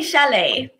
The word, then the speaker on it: chalet: this word broken oh I see Chalet absolutely yep it's a French word Chalet surely the shallots